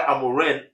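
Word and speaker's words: Amorim: It's actually pronounced with an N, not an M. I don't know why I keep saying Amaren. So the reason why Amarin uh uh is asking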